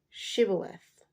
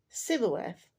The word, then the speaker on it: shibboleth: say to him and say shibboleth so and he would say civil f for he could not pronounce it right so you know people